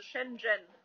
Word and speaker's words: Shenzhen: Also im Chinesischen wird das Z nicht als Z ausgesprochen, sondern als Zhi, also Shenzhen.